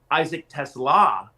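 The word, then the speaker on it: Isaac TeSlaa: not in fact play Isaac Tesla is how you say it.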